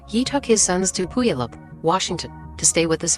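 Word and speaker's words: Puyallup: A few days later, he took his sons to Puup, Washington to stay with his father, Steven.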